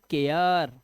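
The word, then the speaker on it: care: ए आ ए आ जैसे देखो ए के बाद आर आया तो सी से बना का तो ये हो गया केयर ऐसे ही डेयर फ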